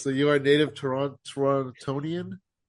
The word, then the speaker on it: Torontonian: I think when you say Torontonian, it's the only time that uh someone from here will pronounce the second T. Uh, otherwise, if you want to seem like you're local and blend in with everyone, just call it Toronto.